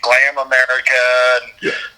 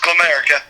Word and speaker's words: Glamerica: And, you know, it gets mispronounced all the time. We always get Glam America, but it's just Glamerica.